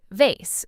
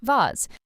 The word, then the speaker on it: vase: Or the word vase. Americans often say it like vase, while British speakers often say it like vase. Again, both correct, just regional differences.